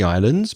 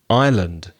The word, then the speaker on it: island: is the pronunciation of island because some Spanish speakers pronounce the s and the s in the word island is a sigh s-so canary islands canary islands the first S is silent because if you say